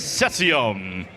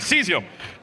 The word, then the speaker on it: Cesium: asking for team 3223C which is Cesium Cesiums. I'm sorry. Seesium. I knew I mispronounced that the entire time.